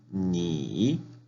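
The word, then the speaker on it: 你: Tercer tono, ni, tú.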